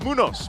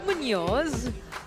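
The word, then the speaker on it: Muñoz: watch party at Bangai Brazal Science City of Munos.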